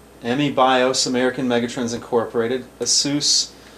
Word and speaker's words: Asus: American Megat Trends, Emmy Bios, American Megatrons Incorporated, Asus or ASUS. Getting used to the new way they pronounce it.